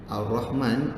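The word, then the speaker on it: الرحمن: Okey, jadi cara baca dia Ar-Rahman, Rahman. Ha pedas Ha pedas ni paling banyak masalah, memang betul.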